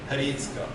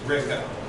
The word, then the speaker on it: Hricko: So in Slovak, it's something like Hricko. So that's why, like, the H gets pronounced a little bit in the Hricko, but that's way too difficult for like 99% of Americans. So we just say Rico.